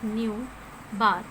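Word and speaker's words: ν̄: You will pronounce it as nu bar.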